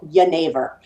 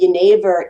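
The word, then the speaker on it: genever: the magical Elixir called yavor um it's actually like Geneva but Geneva is the way it's spelled g NE v r but yor is now the Dutch and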